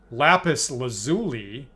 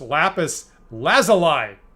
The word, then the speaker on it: lapis lazuli: my entire you know half a century um pronouncing lapis lazuli right is how I always saw it apparently it's pronounced lapis lazuli and I'm like I never would have guessed